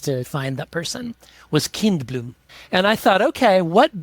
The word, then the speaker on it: Kindblom: Yeah, spelled just like it sounds. I say Kindblom, but it's spelled Kindblom.